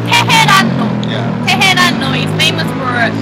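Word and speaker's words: 테헤란로: Okay, I'll pronounce that. This street is called Tehran-no.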